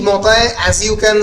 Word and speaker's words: Montaigne: অনেকে মতায় উচ্চারণ করে, the French pronunciation is actually মতায়। অনেক মন্টেইন উচ্চারণ করে, MONTIGNE মন্টেইন অনেকে বলে, অনেকে মতায় বলে, যার যেরকম ইচ্ছে।